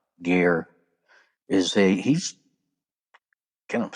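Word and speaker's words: Gaear: Now, G is G is, you know, weird first name. G A E A R. Gear is a he's kind of scary guy.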